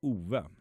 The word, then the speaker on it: Ove: So, um There's a Swedish name uh pronounced Ove.